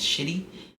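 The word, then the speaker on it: Chidi: uh the Marquee um his character's name is shitty it's spelled c-h-i-d-i shitty um Bill Skarsgard plays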